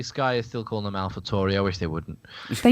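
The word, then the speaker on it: AlphaTauri: made a point of asking them how are we saying it and as soon as they said ah Alpha toy right so Alpha Tori yeah exactly yeah it's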